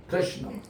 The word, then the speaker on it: कृष्ण: नहीं, कृष्ण कृष्ण आ नहीं, लॉन्ग आ नहीं, कृष्ण।